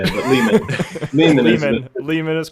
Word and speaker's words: Lehman: lehmann is that right is that how you pronounce it layman or lehman however you'd like to say it but lehman mean lehman is correct cool so do you